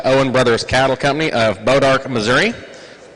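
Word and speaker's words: Bois D'Arc: And I figured it out, and I asked Greg how to pronounce it. It's Bodark, Missouri.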